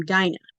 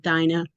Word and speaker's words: Dinah: And afterwards she bare a daughter and called her name Dinah. I've heard it pronounced Dina. I've heard it pronounced Dinah. I'm going to stick with Dinah. I think it just depends on who's reading it.